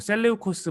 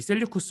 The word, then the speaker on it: 셀레우코스: 프톨레마이오스를 밀어내고 유대 지역을 다스리게 된 왕조의 이름은, 네, 정답은 셀류쿠스입니다. 혹은 셀레우코스 뭐 이렇게 발음하는 건 상관없는데요. 어쨌든 이 셀류쿠스 왕조가 바로 유대 지역을 통치하게 됩니다.